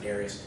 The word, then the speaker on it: Darius: And I pronounce it that way. I had a British professor in college that pronounced it that way, and I picked it up, even though most people pronounce it Darius.